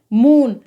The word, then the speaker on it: moon: इसी प्रकार से MOON, तो डबल O के बाद में यहाँ पर क्या दे रखा है, N दे रखा है, तो इसी प्रकार यहाँ पर भी डबल O का उच्चारण ऊ के रूप में यानी कि लॉन्ग साउंड में होगा। तो MOON को हम क्या पढ़ेंगे, मून।